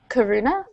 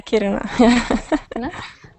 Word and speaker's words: Kiruna: mines underneath the town and she says it's Karuna. Did I pronounce that? Yeah, Kiruna.